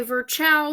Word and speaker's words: Virchow: to remember that but some people say Virchow sounds like child a su Chou child cells come from other